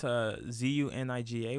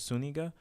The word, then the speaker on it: Zuniga: Okay, well, it's Zuniga with the accent on the Enya, so it's Zuniga.